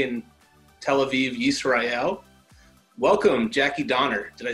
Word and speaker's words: Jackie Donner: uh today we have a pleasure of an an international guest um currently in tel aviv israel welcome jackie donner did i say that pronoun did i pronounce that correctly you absolutely did thank you